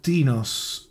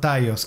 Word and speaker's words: Tinnos: the cinematics as So yes it would be pronounced like tinos the name of the city not taos Ah tainos I say Ah well well it's